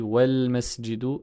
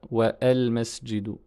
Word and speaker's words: والمسجد: On dit wal masjidu et pas wa al masjidu.